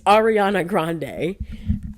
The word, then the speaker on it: Ariana Grande: right cu the first time I said her name wrong and they clocked me Ariana it's Ariana Grande I mean quite clearly um I I I'm